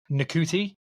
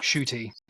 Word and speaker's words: Ncuti: guy from Sex Education, his first name is spelt Ncuti, which would, from an English Cunt. perspective, would be Nakuti, but his name's Cunt. Shooty. Shooty Gatwa. But you would never guess that from listening. It's easy to pronounce when you know it, just not from reading it.